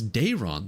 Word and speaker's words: Dayron: It's Dayron, though. I didn't know it was Dayron. Man, it's not like it's a bad name. I just didn't realize I was saying it wrong this entire time.